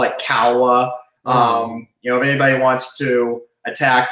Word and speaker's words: Kalwa: Actually, it's Finnish, so it's actually pronounced Kawa.